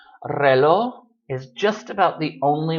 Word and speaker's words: reloj: We don't so much pronounce that J. I mean, you can try to pronounce it and say reloj. Fine, go for it. Notice that when you make these sorts of words plural, relojes, of course, when it's plural, you'll pronounce it.